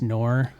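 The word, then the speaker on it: Gnuhr: Yeah, it's actually spelled G N U HR U but pronounced Nor.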